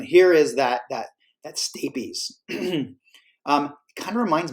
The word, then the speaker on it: stapes: is that that that stapes um it kind of reminds me of a staple and stapes is a little bit like spelled like staple if that maybe helps but